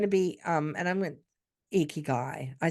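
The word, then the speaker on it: ikigai: so it's going to be um and I'm icky guy I said it right yeah you did say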